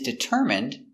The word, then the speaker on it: determine: his goal he is determined to learn English determin d i d t d ER deter M determ determ it deter determine M determine determine determine stresses on the third syllable determine determine determine what